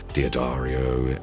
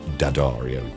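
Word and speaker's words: D'Addario: Diodario. Um, I always pronounced that wrong. Dadario, sorry to the guys.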